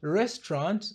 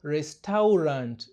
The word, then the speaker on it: restaurant: Katika neno la pili tunabananisha herufi T na R na tunaficha A na U. Hivyo inatamkwa restaurant na sio restaurant.